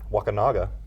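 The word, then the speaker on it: Wakunaga: come from um another neat story is um wakinaga which I just learned how to pronounce properly yeah it's not wakanga yeah wak Waka that sounds a lot worse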